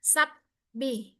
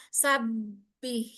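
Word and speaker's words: وسبّح: Wasabbih ba di situ syiddah sifatnya. Maka tampakkan syiddahnya jangan sabih. Sabih itu seolah-olah ada P di situ. Tapi sabbih. Sab kalau terdengar dia sabbih.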